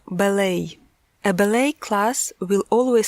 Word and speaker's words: ballet: По-французски оно звучит «бале», «le ballet». В английском произношение изменилось, и звучит оно «ballet».